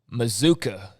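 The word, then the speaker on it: Mazzccua: to see and uh mizuka is uh is uh the proper pronunciation for anybody who reads m-a-z-z c-c-u-a it's masculine that's mizuka mizuka like bazooka so maybe that'll become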